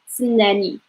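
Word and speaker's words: تسناني: So if you found it hard for pronunciation, just like say ts and put like a layer vowel or something, like stop a little bit and then you would say nanny. Okay, this is going to be a little bit helpful for you for pronunciation.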